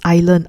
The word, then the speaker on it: island: pronounced as its learner by the way it's pronounced Island I hear some of my students I heard